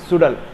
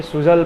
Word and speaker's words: Suzhal: करती है ये सीरीज़ सुडल, जो कि इसका स्पेलिंग मुझे कभी समझ नहीं आया, SUZAL तो ZAL, तो मुझे ये सुजल पढ़ने में आ रहा था, बाद में इसका नाम सुना सुडल सुडल सुडल, पता नहीं क्यों ऐसा, क्यों पता नहीं।